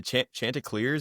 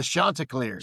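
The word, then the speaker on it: Chanticleers: to be the what the Chant Clears. How do you say it? The Shantaa Clears. Shantaa Clears.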